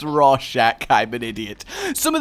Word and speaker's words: Rorschach: It's Rorschach.